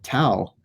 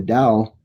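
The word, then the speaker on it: Tao: school writings on the towel or the dowel even though it's spelled with the T it's pronounced no the energy the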